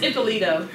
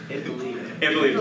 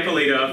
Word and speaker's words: Ippolito: Yeah, can you say it again? It's Ippolito. Ippolito. Not Ippolito. Yeah. Like, I said every version that was wrong.